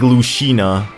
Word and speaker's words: Lucina: way I'll go with it Samus not like Lucina Lucina even though the announcer says Lucina it's it's still pronounced Lucina because of the game even though